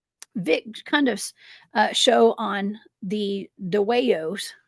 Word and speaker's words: Dwayyo: Cundiff's show on the Dwayyos. How do you pronounce this? Dwayyo, right? Dwayyo. I think of that song from Beetlejuice.